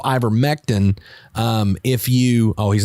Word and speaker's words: ivermectin: about the medicine i i keep saying ivor metzen for some reason but i remember mectin because if you look at the way it's spelled anyway so ivor mektin um if you oh